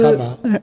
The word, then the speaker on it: Rama: Parce on que dit Rama. on dit Rama ou Ouais. on peut dire Ram. On prononce pas, en sanskrit, on ne prononce pas forcément le A à la fin.